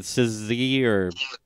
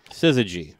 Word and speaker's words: syzygy: That 3-song EP, how do you pronounce it? That Syzygy. Syzygy.